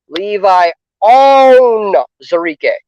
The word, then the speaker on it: Levi Onwuzurike: some fans that have a hard time with pronouncing names. Levi Onwuzurike.